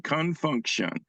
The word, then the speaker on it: Con Funk Shun: name of this song is spelled c n Fu n k hu n Confunction and they took off